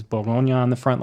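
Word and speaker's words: Bourgogne: needles so this one the regional designation the boronia so spell that for us Jay if you would b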